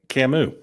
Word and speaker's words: Camus: Hey, man, remember what Albert Camus said? The good of the people is always the alibi of tyrants. You said it right, Camus.